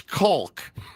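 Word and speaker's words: caulk: How do you say C A U L K? It's Kulk. Obviously.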